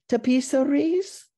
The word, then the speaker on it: tapisseries: But I believe the pronunciation is tapisseries.